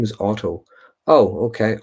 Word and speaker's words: Otto: Oh, my name is Otto. Oh, okay, Otto. Do beg your pardon.